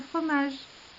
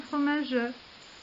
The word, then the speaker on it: fromage: En revanche, le E muet, lorsqu'il se trouve à la fin du vers, va s'éteindre complètement. C'est pourquoi vous direz « tenez dans son bec un fromage » et non pas un fromage, parce que le E